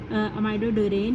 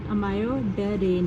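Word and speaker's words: amiodarone: अच्छा, अब हम लोग बस यहाँ तक इतनी सी बात है, ये हो गया अमाइडोडेरेन जो होता है, ये थोड़ा सा एक मिनट, इसकी स्पेलिंग अमायोडेरेन है, वैसे अमायोडेरेन है।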